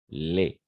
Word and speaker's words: les: Les. Simplement les. Ici, on ne va pas prononcer le S, simplement les.